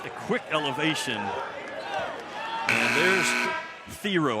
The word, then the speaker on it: Thiero: I called him Thiero the last couple of years in Kentucky because that's what his name was. But then he gets to Arkansas, and they ask him how do you pronounce it properly. He says it's actually Thiero.